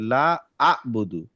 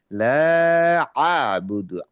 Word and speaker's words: لا أعبد: যেমন ধরেন, আমি যদি কাউকে পড়তে বলি, অনেকে এরকম ভাবে পড়ে লা আ বধু, হ্যাঁ, মনে হয় যেন আ। কিন্তু আমি যদি আইনের উচ্চারণটা করি, আইনের উচ্চারণটাতে সুকুন যখন হবে তখন একটু গলাটা ভাঙবে, তাহলে বলবো হচ্ছে লা আ বুদু, আ আ। হ্যাঁ, গলাটা ভেঙে ওইখানে ধাক্কাটা খাবে।